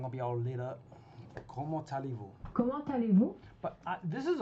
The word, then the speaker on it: comment allez-vous: Why do you say the T like it's talez-vous? That's a question I don't really get. Like, why isn't it comment? Because they don't pronounce the T when you just say comment. You just say comment whatever, right? But why is it with the allez-vous, it's talez-vous?